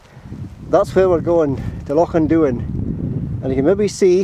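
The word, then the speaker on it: Loch an Duin: Lochinduin, right.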